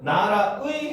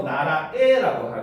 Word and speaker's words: 나라의: 의로 발음하는 게 원칙이지만 에로 발음하는 걸 허용을 한다는 거죠. 그래서 이거는 나라의 해도 되고 나라에라고 해도 되는 거죠.